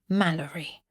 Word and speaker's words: Mallerie: Mind you pronounce it right, Mallalerie, and not the other way.